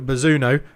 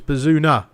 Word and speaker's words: Bazunu: Max Aarons goes all the way back to Bazunu, who I've been informed I'm saying his name wrong. It's Bazunu, I think is what I realised it should be.